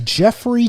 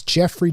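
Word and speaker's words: Geoffrey: without the manure and his name is spelled jeffrey like the english london way the spelling you might want to spell free you might want to spell it that's awesome go ahead and spell it for c-e-o-f-f-r-e-y james and then james j-a-m-e-s 49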